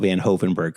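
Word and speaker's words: Van Hoevenberg: it's taken a while to get her to pronounce Mount van hogenberg correctly but uh you did it great job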